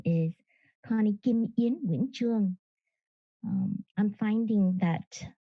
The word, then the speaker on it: Nguyen-Truong: My name is Dr. Connie Kim Nguyen-Truong, but the actual Vietnamese pronunciation is Connie Kim Nguyen-Truong.